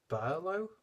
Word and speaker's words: BRŁO: i pronounced this right it's actually pronounced Berlo or something along those lines and I think the